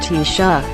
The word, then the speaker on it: Taoiseach: The head of the government is the Taoiseach, pronounced Taoiseach, which means chief.